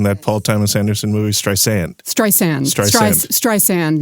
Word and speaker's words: Streisand: your relationship to Barbara stren am I pronouncing that correctly by the way you might have been a little heavy on the second s it's pronounced stri sand I feel like this